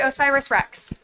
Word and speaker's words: OSIRIS-REx: that I'm presenting but you do spell it out you don't say it we say osiris-rex yeah all right whereas